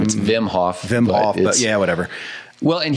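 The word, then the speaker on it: Wim Hof: want to dig further is whm Hoff which is spelled w Vim hoffm Hof but yeah whatever well and he basically I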